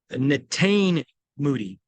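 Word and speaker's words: Netane Muti: I want to pronounce it, so I'm going to look at the pronunciation scale. Natane Moody.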